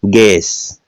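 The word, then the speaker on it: guess: Vowel है तो यू का उच्चारण नहीं करना। क्या करेंगे? गैस।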